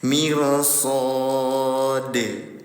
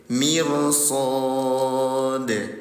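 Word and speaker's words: مرصاد: Ketika dalnya disukunkan terjadi hukum tajwid makanya dikasih kode ya. Apa nama hukum tajwidnya? Qalqalah. Cara bacanya harakat dipantulkan. Mirsod. Mirsod.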